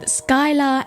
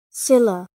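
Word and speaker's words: Scylla: in the mythos of Skyla and Karibdis. If I mispronounced that, I am sorry. She did in fact pronounce that wrong. Silla.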